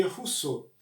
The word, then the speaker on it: Rousseau: Se escreve Rousseau, mas se lê Rousseau, certo?